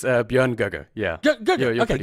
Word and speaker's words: Björn Göge: This is Björn Gig. Yeah. Close. How close? It's Björn Göge.